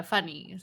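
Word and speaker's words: funi: I mean that's how but it's spelled uh funny. It's spelled f u n I mean Oh, I see. Funny. Just like that.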